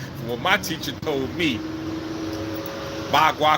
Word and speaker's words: Bagua: Bagua, because they don't really say the P. I say Pagua because we pronounce P's over here. They don't pronounce their P's over there, so they say Bagua.